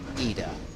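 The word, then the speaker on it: Idah: of Norwich City Adam eda either not hidin as hurt we've often been calling it as he's been coming through the youth system we're told his Adam EDA is how it should be pronounced and he has well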